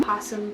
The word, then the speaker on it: opossum: Opossum is pronounced possum, but it basically describes the possums and marsupials from the Americas.